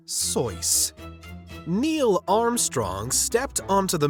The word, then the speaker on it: Seuss: word nerd Dr Seuss his last name is pronounced soyce Neil Armstrong stepped onto